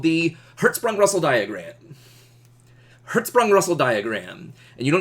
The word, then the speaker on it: Hertzsprung: a diagram called the Herz sprung Russell diagram Herz sprong Russell diagram and you don't know how much